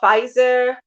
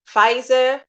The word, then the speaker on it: Pfizer: Like this new vaccination, I think it's called Pfizer, and BioNTech. That's it. Pfizer, N, like the letter N, capitalized, BioNTech. And Pfizer, the P is silent, P for Paul, F